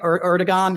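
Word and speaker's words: Erdoğan: Erdogan. I always say his name wrong. It's not a hard G.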